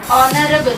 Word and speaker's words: honorable: Honorable. Even though the word is beginning with the consonantal letter H.